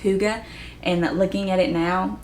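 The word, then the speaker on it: hygge: have is Holy Huga for the longest time I I thought it was pronounced holy HG but apparently it's pronounced Huga and looking at it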